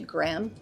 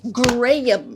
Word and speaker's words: Graham: You know how annoying it is if people call you Graham? It's like there's this two there's two syllables in your name. I thank you. Graham. Graham.